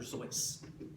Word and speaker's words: Seuss: Seuss it was originally supposed to be pronounced dr. sois and people kept saying sues he kept trying to